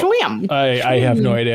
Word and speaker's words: Schim: Hey, Haley, do you want to talk about Schim? Yeah, I can talk about Schim. Thank you for pronouncing it because I didn't know how to pronounce it. I was like, Schwim.